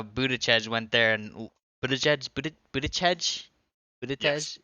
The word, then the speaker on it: Buttigieg: We can talk about how Buttigieg went there and Buttigieg? Yes. Is that how you pronounce it? Buttigieg.